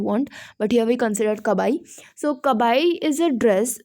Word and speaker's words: kabai: So, or you can whether pronounce it whatever you want, but here we consider kabai.